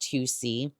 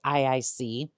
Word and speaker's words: IIC: And yes, I realize it's pronounced 2C. I think the first couple of times I pronounced it IIC.